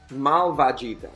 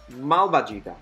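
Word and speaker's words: malvagità: Malvagita. With an accent on the last vocal. Malvagita.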